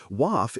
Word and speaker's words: WAF: WAF is a onebeat word that rhymes with half, which helps in the lightning round.